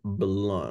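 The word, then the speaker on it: Blount: who's the author of fanatical prospecting uh Jeb blunt let me reopen my Kindle Jeb blunt okay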